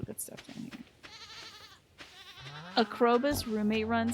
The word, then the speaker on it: Krobus: Krobus is a cutie. I just keep getting his name wrong. I keep thinking it's Trollbus. Brumbus.